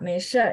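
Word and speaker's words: 没事儿: 没事儿， Ya, 没事儿 ya, belakangnya harus ditekan.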